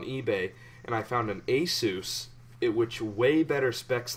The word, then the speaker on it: Asus: I got it for hesus ASUS ASUS oh Asus yeah no it's Asus that doesn't sound grammatically correct but whatever no that's how the people who own it pronounce it I know but